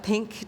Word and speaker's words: P.Ink: and we also have pink day and it's October right p i n k pardon me how do you pronounce p p ink P ink because you're inking you are and it